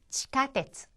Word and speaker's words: 地下鉄: 에기라고 발음을 했는데 이 에기라고 하는 거를 하면서 또 지하철이라는 단어가 나왔었죠? 지카테츠.